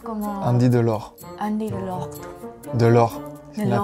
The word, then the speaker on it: Delort: Delort. Sin la T. Ah. Sin la T. Delort. Delort.